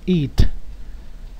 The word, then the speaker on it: eat: manera rápida digamos que una vocal cuando está seguida de dos puntos significa que debemos alargar la pronunciación de esa vocal it Okay a manera